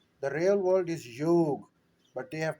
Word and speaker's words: yoga: The real world is not yoga, the real world is yog, but they have pronounced it yoga.